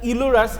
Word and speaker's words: Euler: That is not Euler's, you can pronounce, not that is Euler's, that is Euler.